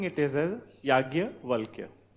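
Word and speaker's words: yajnya: v a l k yaj but you'll be pronouncing it is as yagya W then further write uh about the marriages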